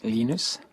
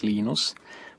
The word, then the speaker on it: Linus: i speak swedish it's venus when i speak finnish it's linos when i speak english it's linus and i really don't care how people pronounce my name but linux is always linux he developed a kernel